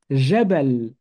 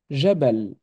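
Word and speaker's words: جبل: dit Jabal ou Jabal on entend aucune voyelle longue donc logiquement on écrit tris sons simple Jabal Jabal c'est parti on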